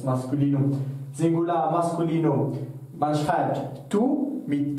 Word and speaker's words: tous: vor einem Namen kommt, dann spricht man das als tu aus und nicht als tous.